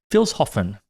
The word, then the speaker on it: Vilshofen: We also learned that for the past I don't know 10 15 years we we've been pronouncing the city wrong. It's Vilshofen.